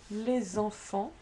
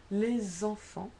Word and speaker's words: les enfants: Think for example, les enfants. This is your S, this is the next word that starts in a vowel, and you say les enfants, because that's a noun and that's a déterminant, so therefore you do link it. Les enfants. Make sure you say les enfants. This is not les enfants, but you have to say les enfants, okay? Enfants is pronounced as one word.